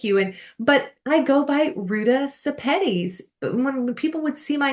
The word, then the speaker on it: Ruta Sepetys: It's RUTA SEPETYS, and you pronounced it so beautifully at the beginning. Thank you. But I go by RUTA SEPETYS.